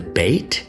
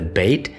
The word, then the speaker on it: Beit: And the one with the dot or the dagesh is called the BEIT, and without it's called the VEIT. So to summarize, we have the Aleph with no sound, we have the BEIT with the dagesh pronounced as a B sound, and very interestingly, the